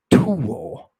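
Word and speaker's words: θύω: And I had a professor who insisted, Thomas Worthen, insisted that the theta here is pronounced as a true aspirated tau. Tuo.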